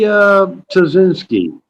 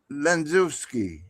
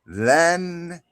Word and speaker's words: Lenzewski: Try to pronounce her last name. Probably Tazinski. It's Lenzewski. Oh, Tazaki. No, Lenzewski.